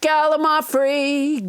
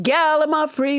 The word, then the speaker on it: gallimaufry: day let's never forget gallimaufry gallima free which i pronounced wrong until nobody james hyder corrected me it's a noun